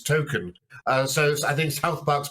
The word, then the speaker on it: Tolkien: Tolkien's surname, but actually the way it's pronounced is Token.